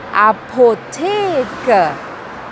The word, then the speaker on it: Apotheke: E o Ezinho no final tem um sonzinho como se fosse o A do português. E o artigo é di, di Apotheke.